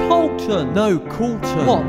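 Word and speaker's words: Coulton: l t o n it's not said how it is written so ignore the liy in pen it's pronounced Colton no Colton what like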